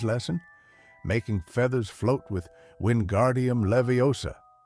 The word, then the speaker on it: Wingardium Leviosa: It's wingardium Levi Osa. Hermione corrects him with that tone we all know too well. Make the gar nice and long.